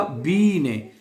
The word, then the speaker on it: Biene: पहले बताया हुआ है जहां पे आई ई इकट्ठा आता है ना उसको हम जर्मन जुबान में इ प्रोनाउंस करते हैं। जब आई ई इकट्ठा आ जाए तो तो ये बनेगा बी ने।